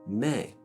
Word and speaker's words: me: So I mentioned in the preliminary class that when we flatten a solfege syllable, most of the time it takes on an A sound. T flattened is te. La flattened is le. In this case, mi flattened is going to be called me.